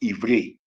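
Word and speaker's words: עברי: When you say Hebrew, we know that the word Hebrew is pronounced Ivri, and it means past, as an ancient.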